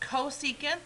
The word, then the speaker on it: cosecant: This is pronounced cosecant.